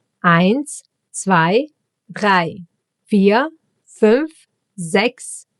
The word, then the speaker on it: eins: eins E and I together get pronounced as I. Like in sky, for example.